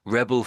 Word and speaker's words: rebel: So, fighting between rebels and govern government forces rebel forces in Liberia.